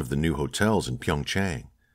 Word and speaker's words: Pyeongchang: They secured me a hotel suite in one of the new hotels in Pyeongchang. Tang, he said, correcting her pronunciation. The CH is said so harshly that it almost makes a T sound.